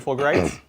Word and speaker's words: Fulgurite: You want a unit of 10 for your Fulgurites.